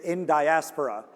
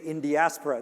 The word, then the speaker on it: Indiaspora: right some people say in diaspora some people some people say india spora some people say in diaspora that's the way i say it and this was cooked